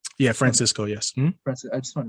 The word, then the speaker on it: Francisco: But the truth of the matter is, Francisco, I'm pronouncing your name correctly, right? Yeah, Francisco, yes.